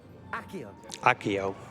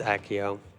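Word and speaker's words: Accio: was talking about with this ekio or SEO or however you want to say it um Akio it's Akio and that's gonna be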